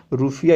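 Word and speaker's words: Rufiyaa: तो मालदीवियन रूफिया यहाँ की मुख्य रूप से आप देखिएगा, रूफिया इसका उच्चारण है।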